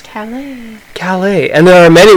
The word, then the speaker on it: Calais: What are you talking about, Callus? Calais.